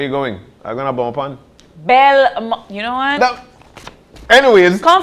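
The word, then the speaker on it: Belmopan: Everybody say Bomopan. Everybody say Bomopan. You see right, people? Yeah. He said Bemopan.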